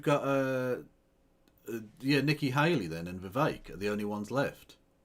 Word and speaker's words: Vivek: So we've got Vivek. It rhymes with snake.